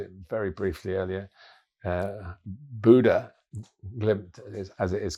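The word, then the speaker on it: Bodø/Glimt: yes I'm mentioned it very briefly earlier uh Buddha glimp as it is correctly pronounced Buddha Um I was uh on duty for their game.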